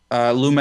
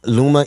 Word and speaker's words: Luma: going to the partial privatization phase where now luma energy if did i say that pronounce that correctly yeah yeah yeah luma energy is a private corporation who's won a